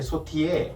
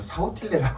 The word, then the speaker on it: sautillé: 않은 그와 조금 대조되는게 소티에 사실 쓰여 있는이 영어 스펠링을 그대로 영어로 읽으면 사틸라 읽지 근데 우리가 뭐 프랑스어